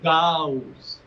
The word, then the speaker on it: Gauss: the other is s the correct pronunciation is Gauss two syllables yes okay if that's an issue that